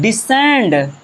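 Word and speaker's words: descend: और मैं आपको बता रहा हूं डिसेंड। अब देखिए यहां पर भी एस के बाद क्या आ गया? यहां पर भी एस के बाद सी आ गया। इसे पढ़ेंगे डिसेंड।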